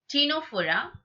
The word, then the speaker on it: Ctenophora: Ctenophora, the trick is 10 plus 10. 10. As I told you, Ctenophora, the pronunciation Ctenophora, 10.